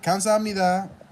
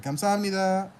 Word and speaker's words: 감사합니다: But you have the word 감사합니다, which sounds like a K to me, but it's written with a G. Like 감사합니다 is written with a K, or it sounds like a K, but it's written with a G sound.